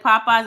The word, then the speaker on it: Popeyes: So it was Popeyes, but it was always the capital one. So people would pronounce it as looking like P-yes, because that E was capitalized. So people will call it Popey.